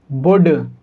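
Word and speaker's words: would: जब कभी भी डी से पहले एल को लिखा जाएगा तब एल साइलेंट होगा। तो हम इसको क्या पढ़ेंगे? कुड, वुड, शुड।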